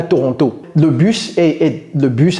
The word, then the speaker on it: Toronto: to go to Toronto ouis Toronto Toronto ne prononcez pas ce thé ok donc c'est très